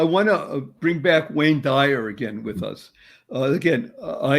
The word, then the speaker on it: Dyer: how you spell it let's say if you spelled it d-i-r-e the higher it sounds dire d-y-e-r so dying means